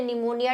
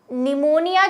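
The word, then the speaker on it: pneumonia: जो स्पेलिंग मैंने आपको बताई थी इस वाले निमोनिया की, वो PNU से स्टार्ट हो रही थी, P से स्टार्ट होती है, P साइलेंट रहता है, और यही निमोनिया रियल वर्ड है क्योंकि लैटिन से बना हुआ है।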